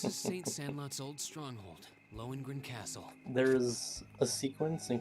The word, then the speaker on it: Lohengrin: Lohengrin Castle, not Logrin?